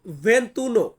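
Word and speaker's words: ventuno: ভেন্তি দুয়ে ভেন্তি দুয়ে একটু লক্ষ্য করুন ভিউয়ার্স ভেন্তি মানে হচ্ছে 20 আর 21 এর ক্ষেত্রে কিন্তু আমরা ভেন্তি বলি নাই আমরা বলেছি ভেন্তুনো ভেন্ 22 হবে ভেন্তি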